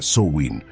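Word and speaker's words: Samhain: Como estás conociendo, todo comenzó con el festival de Samhe, que se pronuncia Soin, celebrado por los celtas hace más de 2,000 años.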